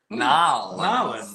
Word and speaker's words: New Orleans: I've never been to New Orleans before. Nolans. Nolans. You gotta say it right.